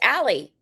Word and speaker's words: Allea: Allea, but it's pronounced Allie. Correct. Like an alley cat.